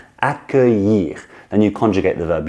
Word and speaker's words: accueillir: Accueillir. Accueillir. Then you conjugate the verb j'accueille, tu accueilles, vous accueillez, I think. Voila. So break it down to syllables and you will nail this one and you will feel great about it.